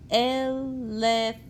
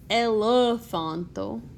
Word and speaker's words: elefanto: Again, just like with the letter A, this e is a vowel, and every vowel gets its own separate syllable. Elefanto. And we don't say elefanto, we say elefanto.